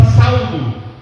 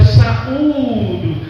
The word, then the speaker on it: saúdo: Então, às vezes a gente fala saldo. O saldo, como se a gente estivesse pagando algo que a gente estivesse devendo, né? Mas o certo é falar eu saúdo, porque o saúdo tem um acento no U, não tem?